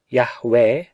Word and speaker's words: Yahweh: yod he wow he the proper pronunciation of which seems to be yahweh owing to his utterance